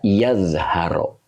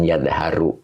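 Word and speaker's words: يظهرَ: Jadi dibaca yazharo, bukan yadharu ya.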